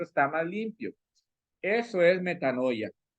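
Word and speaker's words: μετάνοια: el chat Cómo suena nada más la fonética metanoia es una palabra griega que se pronuncia a matano metanoia metanoya metanoia de ahí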